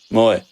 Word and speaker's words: Moy: have Mo our cousin no it's not Mo Moy oh Moy I thought it was Mo no it's spelled the